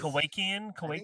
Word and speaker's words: Kowakian: So Kawashima, how do you say Kawasakian monkey lizard? Oh, Kowakian? Is that what it is? Kowakian, sure.